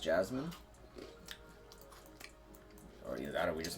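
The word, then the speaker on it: Jessamine: like jine why cuz I guess spelled that way it's pronounced Jasmine that we just mispronounced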